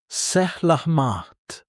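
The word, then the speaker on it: selamat: Salamat. Pronounced sehlahmaht.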